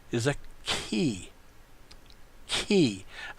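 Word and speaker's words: χῖ: shaped letter is a key he this is a CH or hard seeing sound as in like charisma this would be the key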